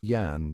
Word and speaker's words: Jan: Amsterdam at the time they pronounced the J as Yan so Jan sounds like Yan but the Brits used